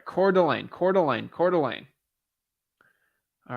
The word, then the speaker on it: Coeur d'Alene: to say it the right way core Delane Coeur d'Alene got it okay got it all right Coeur d'Alene Coeur d'Alene Coeur d'Alene all right sounds good